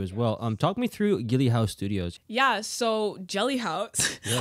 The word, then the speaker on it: Geli Hause: It's spelled with G, so it's Geli. Geli Hause.